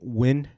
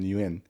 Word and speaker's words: Nguyen: for having me does everyone say your name win I know we win uh you know the funny thing is through throughout until I was in college a lot of pronouncing you in because you know everyone right pronounce it that